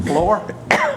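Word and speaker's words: Flaher: You spell that F-L-A-H-E-R. And pronounce it Floor? We do.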